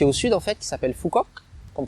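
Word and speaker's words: Phú Quốc: l'île qui est au sud en fête s'appelle phu quoc qu'on prononce aussi fort qu cette île l'âge et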